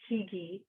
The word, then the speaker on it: Hygge: It's spelled Hygge, but it's pronounced Hygge.